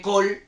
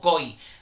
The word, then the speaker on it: Coll: Coy, perdón, porque otra vez como Almacor, perdón, claro, como se escribe Coll, pues yo igual digo Coll, ahí lo pronunciaron como Coy.